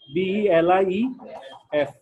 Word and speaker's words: belief: but this was the belief এখানে একটা খেয়াল করি BELIEVE এটা উচ্চারণ কি দুইটা সিলেবল believe কিন্তু যখন নাউন হবে BELIEF তখন স্ট্রেসটা সামনে চলে আসবে belief এটা হচ্ছে believe আর এটা হচ্ছে belief this was the belief